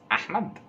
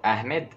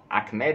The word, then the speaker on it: Ahmed: oh how you say his name is ahmad or ahmed if you want to say in english achmed is just weird we're all used to